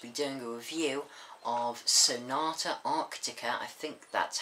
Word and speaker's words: Sonata Arctica: I'm going to be doing a review of Sonata Arctica I think that's how you say it um